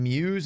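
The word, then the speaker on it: Mewes: see kevin smith and is it jason muse is how you say his name yes uh jay and silent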